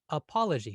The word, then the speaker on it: apology: Notice that the apology, that second syllable is slightly longer than the first and the third and the fourth.